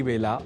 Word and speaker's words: वेला: यहाँ वेला के ए अक्षर के उच्चारण में तो सामान्य रूप से अशुद्धि कम ही परिलक्षित होती है, पर हमने आपको बताया ही था कि कई बार हम में से कई व को ब के रूप में समझने की भूल कर जाते हैं और व को